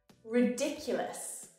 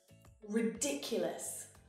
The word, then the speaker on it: ridiculous: Ridiculous. Ridiculous. Hear the stress when I exaggerate?